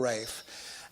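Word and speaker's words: Ralph: is trying to sorry i think i said it incorrectly we did it for rafe and primarily four ray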